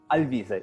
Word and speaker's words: Alvise: some parts of italy so don't worry is lv say i'll visit yes exactly okay okay i'll be i'm so sorry i butchered you no no problem at all so